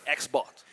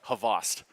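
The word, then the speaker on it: Xboct: like that, with it's X-Bot. I've heard differently. It's okay. But I know most people, when they see it for the first time, X-Bot, yeah. like that's how they say it.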